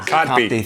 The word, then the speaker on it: Kotb: Kotb.